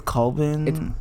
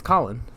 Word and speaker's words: Colin: How do you say his first name? I think it's Colvin. It's Colin.